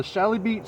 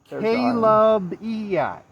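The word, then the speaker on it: Chalybeate: the location of the Shalibeat Spring I was pronouncing it wrong. It's pronounced Kalabiat. Kalabiat. K-A-L-I-B-E-A-T. Where is it? Kalabiat. So this CH is actually pronounced as a K.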